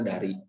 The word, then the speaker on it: Dari: Taliban jeung bahasa Dahri, D-A-H-R-I dibacanya Dari.